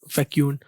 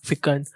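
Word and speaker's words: fecund: इसको कुछ लोग बोलते हैं फैक्यूंड, कुछ बोलते हैं फिकंड, कुछ बोलते हैं फिकंड।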